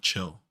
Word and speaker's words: Chill: page Turner I'm sure if you said Hill not chill yeah he didn't even say his name is Joe Chill not Hill he'll just dying to